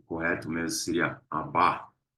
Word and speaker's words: Abba: muito importante, nós clamamos Abba, Pai. A pronúncia aqui é Abba, né? A gente fala Abba, mas o correto mesmo seria Abba, a ênfase na segunda sílaba.